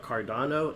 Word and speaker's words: Cardano: on the phone we're having a conversation about cardano am i pronouncing that cryptocurrency correct yes yes uh big